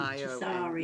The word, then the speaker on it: Tsarion: It's spelled Tsarion, I think, isn't it? Tazarian. Yeah, Tazarian. Tazarian.